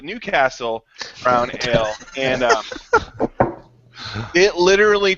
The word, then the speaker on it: Newcastle: a big fan of not nut castle but new castle brown ale and it